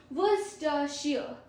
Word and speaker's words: Worcestershire: हाउ to pronounce English words that you find hard, almost 50. So first is Worcestershire.